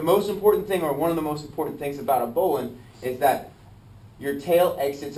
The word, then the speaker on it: bowline: This is called an end of the line bowline. Some people call it a bow line. That's how it's spelled, is bow line, B-O-W-L-I-N-E.